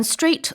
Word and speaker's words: strait: Yes, a strait doesn't have to be straight. 네, 그 반듯하다라는 뜻의 straight는 끝에 GHT가 들어가는데요. 발음은 똑같지만 전혀 다른 단어라는 거.